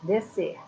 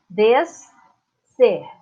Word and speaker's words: descer: Descer. Eu troquei aqui, ó, e separei. S para um lado, C para o outro. Para pronunciar, para falar, é tudo junto, apenas um som.